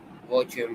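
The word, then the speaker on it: 我叫: Wo jiao. Moi. Ni hao. Ni hao ma? Try not to blend wo jiao into one sound.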